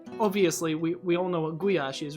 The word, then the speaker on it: goulash: because, I mean, obviously, we all know what goulash is, right? But, yeah, it's still, or as the Americans say, goulash.